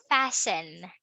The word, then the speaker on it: fasten: simple past regular is fastened we fastened the seat belts okay we don't pronounce the letter T silent silent T okay